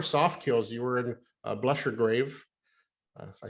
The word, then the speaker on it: Blessure Grave: Uh, so first of all, it's kind of, I think technically the pronunciation of that band name is Blessure Grave. I Oh, called c'est it Blessure, français. right, and I called it Blessure Grave, um, because it was